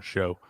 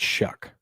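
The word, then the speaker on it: Shough: called that guy Tyler Show that I've heard because it's it's it's spelled that way, but it's pronounced Shuck.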